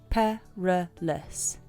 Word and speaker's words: perilous: it with perilous perilous the pronunciation is per less perilous something that's full of